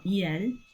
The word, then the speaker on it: il: Um, now we have il or eel, which is the masculine feminine.